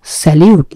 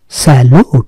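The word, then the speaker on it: salute: নিযুক্ত ব্যক্তি, বিক্রয় কর্মী, স্যালুট, স্যালিউট না, স্যালুট, স্যালুট মানে হচ্ছে ডান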